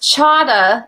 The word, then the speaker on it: Cada: ever saved your life it's pronounced Chava like Prada Prada okay it's actually a Czech name that's somewhere along the line lost the slash above the sea okay was how you were supposed to know that it has a